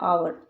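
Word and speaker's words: hour: रही है एच आ भले स्पेलिंग में एच है लेकिन हम बोलते कैसे हैं आवर आ तो आ की साउंड निकल रही है मतलब क्या लगाना है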